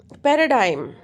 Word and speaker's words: paradigm: example of um, uh, if I say that paradigm, right? So pa stress on p, paradigm. So this is a two syllable word, paradigm.